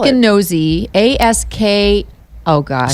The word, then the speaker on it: Askinosie: Askinosie, A-S-K. Oh gosh. So like Ask a Nosy Neighbor? Yeah.